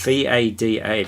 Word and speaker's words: Vada: it's Vada, isn't it? Yes. Vada, pronounced like Darth Vader.